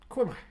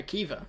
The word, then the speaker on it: Caoimhe: CAOIMHE. Quim. No, Kiva, obviously.